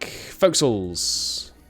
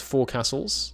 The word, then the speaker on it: forecastle: Forecastles. You'd think it was pronounced four castles, which is where the word comes from, but no, this is pronounced forecastle.